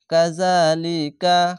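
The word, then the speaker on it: كَذَٰلِكَ: কাযালিকা, খারজা বলে এক আলিফ টেনে পড়বেন। কাব জবর কা, জাল খারজা যা, কাজা, লাম জের লি, কাব জবর কা, লিকা, কাযালিকা।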